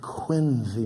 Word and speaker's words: Quincy: Now, Quincy, Massachusetts is the home of two presidents, John Adams and John Quincy Adams, not pronounced Quincy, which is an interesting little tidbit.